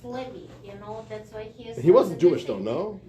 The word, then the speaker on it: Lev: It's also Lev. It's not Leo.